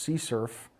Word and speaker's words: CSRF: as session writing and abbreviated as CSRF sometimes pronounced c surf or xsrf it's an